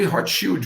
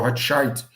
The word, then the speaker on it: Rothschild: Morreu agora, não sei se foi anteontem ou ontem, o Jacob Rothschild, ou Rothschild, o nome como você quiser pronunciar.